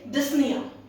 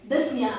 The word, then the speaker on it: dyspnea: Now, over here, this word p is silent. When you pronounce this word, you would say dyspnea. What are you going to say? You're going to say dyspnea.